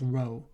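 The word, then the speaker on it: rho: is um it's pron it's pronounced as row okay so if the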